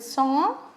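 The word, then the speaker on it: sans: i mean meant with song s a n s s is silent and at the age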